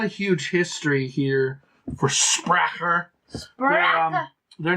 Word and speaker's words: Sprecher: You said it wrong. It's Sprecher.